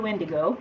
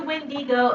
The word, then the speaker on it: wendigo: the case of the wendigo going next the wind ego i've heard it pronounced both ways catching up on comets